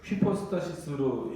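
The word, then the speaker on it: ὑπόστασις: 이게 이제 헬라어인데 휘퍼스타시스로 읽으셔야 됩니다.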